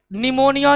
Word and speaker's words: निमोनिया: कोई दिक्कत आइए एक बार देख लेते हैं निमोनिया जिसके नाम में पी साइलेंट रहता है यह दो प्रकार के बैक्टीरिया